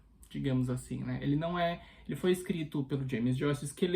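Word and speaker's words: eau: Não que ela significa água em francês, na verdade, água em francês é E-A-U, mas a pronúncia é E também, né?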